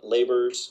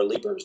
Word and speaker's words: Leber's: diagnosed with something called Leber's, or Leber's, depending on how you pronounce it, Leber's hereditary optic neuropathy.